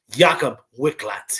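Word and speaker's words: Jakub Wiklacz: Let me pronounce his name right since we're betting on him. Jakob Wicklax here.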